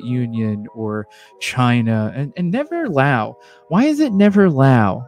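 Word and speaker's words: Laos: For years now, since I've become a communist, and I actually found out that Lao is, and yes, the S is silent, is a socialist nation.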